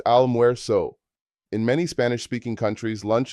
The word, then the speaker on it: almuerzo: Lunch is almuerzo, pronounced almuerzo.